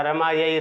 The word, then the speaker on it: रमे: जैसे संबोधन में हम आ का उच्चारण करते हैं वो गलत होता है, रमे ही होता है।